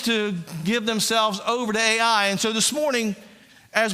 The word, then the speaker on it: Ai: a city called Ai. You can't make this up. They went to I, as is properly pronounced, Jay showed us last week.